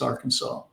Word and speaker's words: Arkansas: Arkansas how's that well it's actually an Indian name it means Downstream people and and the Indians uh say AR it's not spelled that way but if you spell it phonetically the way they spoke it it's Arkansas GE thank you I've always